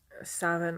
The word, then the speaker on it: Samhain: Scottish practice of Samhain, or Savin, I think is how it's pronounced in Gaelic, that would associate it with 3 days as opposed to 1.